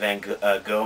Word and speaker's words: van Gogh: You guys remember that painting that Vincent van Gogh made, using the American pronunciation, so no one get on me, of the TARDIS exploding?